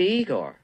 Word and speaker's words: Igor: this Frederick Frankenstein I see you must be Igor now it's pronounced I go but they told me it was Igor well they were wrong name weren't they uh